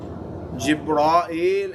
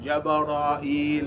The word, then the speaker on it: Jibril: And Mikael and Jibrail and Jabarail and Jibril. These are all different pronunciations because these are not originally Arabic words.